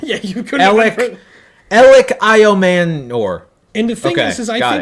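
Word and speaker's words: Elic Ayomanor: Elik Iomanor.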